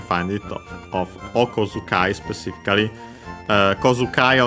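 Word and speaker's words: 小遣い: Kozukai on its own is accented actually on the ko, on the first mora.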